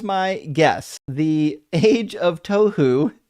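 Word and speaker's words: תֹּהוּ: Oh, this is a real Hebrew word, tohu, as in tohu vavohu, yes, from Genesis 1, when it says the earth was formless and void. I think he simply mispronounced it. Still nonsense. This is actually a really good guess. The Age of Tohu would be way better than the Age of Torhu, which is it's not really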